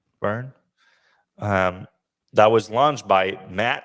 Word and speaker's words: Verne: I don't know if we'll say Rimac, but there was a new brand launched this week called Verne. I think that's how you pronounce it, Verne.